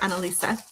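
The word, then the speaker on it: Annalise: Um, so we do pronounce the E at the end. So, Ana Lisa.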